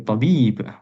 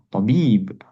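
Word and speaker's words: طبيب: Kemudian apalagi tabib, baknya panjang, tabib. Ya, kalau salah dalam penekanan, misalkan dokter ditekannya di to, jadi tabib, tabib, jadi salah. Ya, penekanannya mesti tepat.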